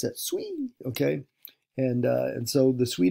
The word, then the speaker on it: Sui: Yeah, that's how you pronounce it. Sui, okay.